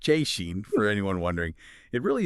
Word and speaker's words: Szczecin: Veskin, pronounced Cheen for anyone wondering.